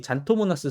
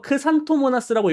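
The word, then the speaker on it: Xanthomonas: 이거 크산토모나스라고 읽어야 되는데, 그죠? 근데 요즘 미국에서도 그냥 그 라틴 발음식으로 안 하고 그냥 영어 발음식으로 읽는 경우들도 많아요. 그 교수님들도 보면은 그냥 뭐 잔토모나스 이렇게 읽는 경우도 많고 하기 때문에 제가 조금 이제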